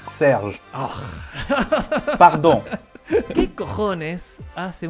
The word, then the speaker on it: Serge: Decilo, por favor, ¿cómo se pronuncia? Serge.